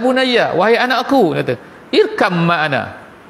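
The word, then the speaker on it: اركب معنا: Ya bunayya, wahai anakku, dia kata, irkam ma'ana. Bacaan dia tu kalau ikut asal irkab ma'ana, tapi bila bacaan dia pun irkam ma'ana. Gitu cara baca dia.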